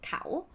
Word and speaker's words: เขา: But let's start simple, he or she, เขา But this one ค่ะ if you pronounce with the vowel sound long, it will be ขาว which mean white.